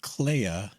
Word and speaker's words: Clea: I was wondering, do you think that was like a Clea, and it's interesting that Clea's name rhymes with Leia, that Clea was overreaching?